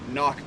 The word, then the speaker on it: cnoc: water treatment system is a cnoc bag or a knock bag if you're pronouncing it correctly so this is just